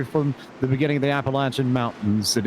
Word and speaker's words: Appalachian: the beginning of the Appalachian Mountains. And it is a long A for those who are uneducated, Justin Prince, so long